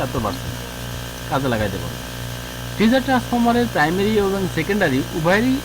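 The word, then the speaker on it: teaser: এখন ট্রিজার আমরা উচ্চারণ করবো টিজার, ট্রিজার না, টিজার।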